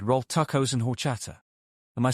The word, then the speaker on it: horchata: Piper said rolled tacos and horchata.